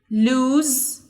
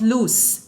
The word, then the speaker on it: lose: about the irregular verbs lose lost lose lost pay attention it's not loose it's lose the S but not a z so it's lose lost like we said